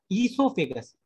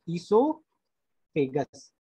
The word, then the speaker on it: esophagus: Esophagus. O is silent here. Esophagus.